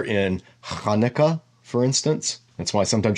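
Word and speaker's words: Hanukkah: is the letter in Kana for instance that's why sometimes you'll see Hanukah spelled with a CH it's not Chuka it's Kana they're trying to they're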